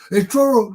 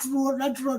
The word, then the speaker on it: Truro: It's Truro, not Truro, it's Truro."